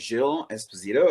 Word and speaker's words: Gilles Esposito: So my name is Gilles Esposito. It's a French name, so don't worry if we ever get to meet and you don't pronounce it right.